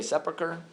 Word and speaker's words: sepulchre: Okay, so the important structure that is kind of like a main point of the Christian quarter is the Church of the Holy Sepulchre.